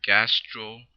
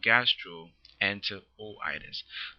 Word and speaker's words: gastroenteritis: Imagine trying to say gastro enter o-itis. That actually makes the pronunciation much more complicated than it needs to be.